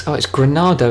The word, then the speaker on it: Granado: First off, ahead of Benjamin Papillon, and it's Granado, isn't it? I've been calling him Grando this whole time. Oh my life. Ahead of Papillon in second, Granado. It's another syllable in his name.